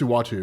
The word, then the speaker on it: Uatu: It's Utah, right? Well, it wasn't originally, Pronunciation of it's Uatu. Uatu, that's it.